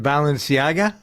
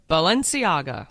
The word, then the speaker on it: Balenciaga: is the new face of how do you pronounce it balanciaga balenciaga yep yeah what is that's a clothing line